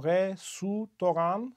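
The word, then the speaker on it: レストラン: And the reason why the second syllable has a vowel in it, re-su-toran, is because in Japanese grammar, the only kinds of syllables that are allowed are the ones that end in a vowel, with only one exception,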